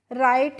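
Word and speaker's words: write: तो आप देख रहे हैं कि डब्ल्यू आर आई जी टी ई को भी हम सेम पढ़ते हैं और आर आई जी एस टी दोनों का ही प्रोनाउंसिएशन क्या होता है फ्रेंड्स? राइट ही होता है।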